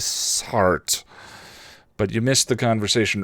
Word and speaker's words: Sartre: I believe the actual proper French pronunciation is Sartre.